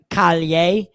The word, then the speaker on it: Calle: And it was Sasha Calle's or I think you pronounce her name Callier, Sasha Callier, but whatever.